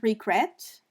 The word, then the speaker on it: regret: If we say the word regret, the second E is stressed.